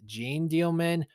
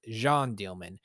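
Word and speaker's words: Jeanne Dielman: From the looks of it, it's spelled Jean Dielman, but it's pronounced Jean Dielman.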